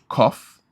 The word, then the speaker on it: qoph: Cough. Cough. So you have a Sade, then you have cough. How does QOPH pronounce as cough?